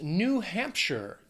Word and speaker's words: New Hampshire: next is New Hampshire two words three syllables the stress is going to be on that first syllable in the second word looking at Hampshire now that last syllable it's not sh it's not like Frodo in the Shire it's sure New Hampshire New Hampshire I